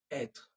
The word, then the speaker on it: être: Être and avoir. Can you say them again? Être, like r at the end, être, avoir, avoir.